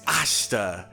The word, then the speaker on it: Ashita: it's like I stopped it's not like a cheetah or shotta it's ashta and that makes it because